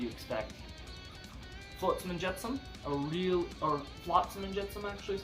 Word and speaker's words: Flotsam and Jetsam: Flotsam and Jetsam, Flotsam and Jetsam actually is how it's pronounced.